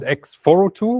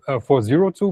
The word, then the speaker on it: x402: you should call it X42 which is my preference or you should call it X42 like Misha just did. I've been told that the the businessy people tend to say 402. But that's one syllable more. So I will not do that because I'm a developer. I identify as a developer and thus I'm lazy. So I would say x42.